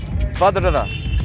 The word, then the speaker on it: Vadodara: Vadodara. Yeah. Vadodara. Ah, okay. Almost impossible to pronounce.